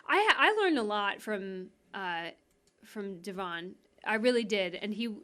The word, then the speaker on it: Devon: I think, am I pronouncing his name correctly? Devon, yeah.